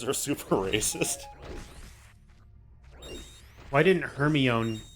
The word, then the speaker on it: Hermione: Hermione. I had a friend in elementary school who pronounced it Hermoine.